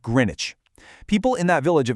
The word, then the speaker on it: Greenwich: But, beware, it is definitely not pronounced Greenwich. It's pronounced Greenwich.